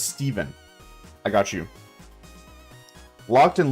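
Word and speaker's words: Stephen: It's pronounced Steven but with a ph. It's Irish. Okay. So, it's not Stefan, it's Steven.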